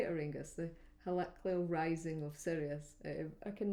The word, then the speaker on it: heliacal: The heliacal rising of Sirius.